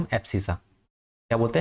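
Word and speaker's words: abscissa: एप्सिसा। क्या बोलते हैं? एप्सिसा। देख लेना। ऐसे ही होता है स्पेलिंग।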